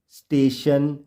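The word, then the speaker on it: station: आई ओ एन मोशन तो यह तो फ्रेंड्स हमने अभी भी देखा था कि जब भी वर्ड के लास्ट में टी आईओ एन होता है तो टी आईओ टी आई ओ एन को शन के रूप में पढ़ा जाता है अब हम देखेंगे कि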